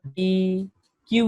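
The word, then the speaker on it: deque: এখানে প্রথম কথাটা হচ্ছে যে ডি, এটার স্পেলিংটা হলো ডি কিউ ইউ ই এবং উচ্চারণটা হলো এখানে লেখা আছে প্রনাউন্সিয়েশন ডেক। এবং এখানে একটু আগে আমরা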